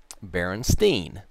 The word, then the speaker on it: Berenstein: the kids pronounced it Berenstein some of the kids pronounced it Berenstein and so I went with the again standard English pronunciation when two vowels go walking the first one does the talking so ste I n